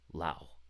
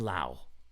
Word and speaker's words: Lau: by the name of Dustin Law llao llao dustin lau i pronounced his name wrong and i asked him how to pronounce his name his name is Dustin Lau he has a custom